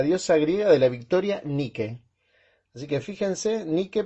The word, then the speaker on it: Nike: así en el cae así como la marca de las zapatillas ni que nike les decimos acá en argentina pero se dice ni que era la diosa de